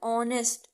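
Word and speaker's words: honest: देखिए एग्जाम्पल के तौर जो मैंने बताया वो नीचे भी है कि आर, एन लगाए, ऑनेस्ट, ओ से आवाज आ रही है, एच आपका यहाँ साइलेंट है तो एन।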